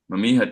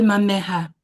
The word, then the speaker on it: Mameha: When I went to begin applying my makeup, Mami had told me why she had summoned me.